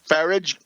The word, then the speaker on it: Farage: all, and scurrilous ones, that's Farage, rhymes with garbage.